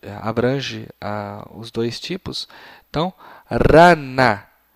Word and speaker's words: rana: Então, rana. Rana. Se você não consegue fazer este som de R, pode pronunciar para o seu pequeno rana, sem nenhuma dificuldade.